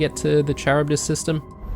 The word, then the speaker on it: Charybdis: to the Charybdis system.